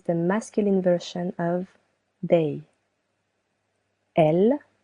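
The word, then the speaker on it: elles: Elle with an S that is silent means they, feminine version.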